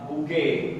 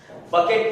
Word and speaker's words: bouquet: बुके, BOUQUET। बकेट नहीं बोलने का, बुके होता, और बुके ऑफ फ्लावर्स